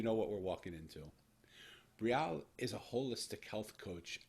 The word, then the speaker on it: Brialle: i'm gonna try and say her name right brielle yes you got it brielle ringer is is